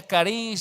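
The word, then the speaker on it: χάρις: Así que gracia, con el número 5485 del Strong's, es la palabra en griego caris, se pronuncia caris, se escribe charis, ¿sí?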